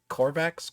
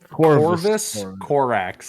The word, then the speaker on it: Corvus Corax: Korvax Korax, because You forget he exists so hard you don't say his name right. Yeah, what? How do you say his name? Corvus Corax.